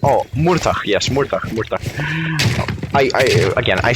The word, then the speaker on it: Murtagh: Yes, Murtagh. I said, I have small brain, I'm a bad caster, I need to remind myself how the names are pronounced. I say Mortagh, and, Murtagh.